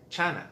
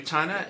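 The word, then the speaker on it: Tsana: By the way, Chana is spelled T-S-A-N-A, and I'm just using how usually the TS sound is pronounced in Filipino, which is a CH sound, so Chana.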